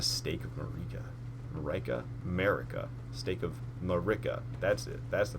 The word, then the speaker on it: Marika: Stake of Marika. That's it. That's the pronunciation.